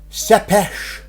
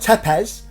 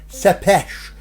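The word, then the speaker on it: Țepeș: it well it's were a gentleman called vlad sepesh now that's the way you pronounce his name you know it looks like it's about tepes but it's pronounced in transylvanian and romanian sepesh so vlad sepesh was born in this house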